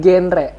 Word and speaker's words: GenRe: Jadi genre itu, jadi bacanya itu bukan genre ya, tapi genre. Jadi generasi berencana.